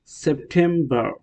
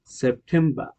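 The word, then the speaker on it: September: Note আর যদি শব্দের শেষে থাকে তাহলে ব্রিটিশ উচ্চারণে আর উচ্চারিত হয় না।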